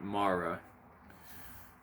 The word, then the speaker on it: mare: But Mara is the sea, M-A-R-E, we would pronounce it mare in English, like the horse. But Mara means sea.